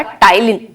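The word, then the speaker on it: ptyalin: बच्चे सलाइवरी अमाइलेज़ का टाइलीन इसमें पी साइलेंट होता है बच्चे इसको हम टाइलीन रीड रीड करते हैं तो ये आपसे बोर्ड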